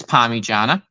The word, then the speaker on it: Parmigiana: They need to reconsider what they've called it because you pronounce it's Parmigiana, right?